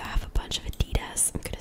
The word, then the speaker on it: Adidas: to pronounce this because in French we say Adidas. So in English I would say Adidas, but I know that some people say Adidas. So like I really don't know.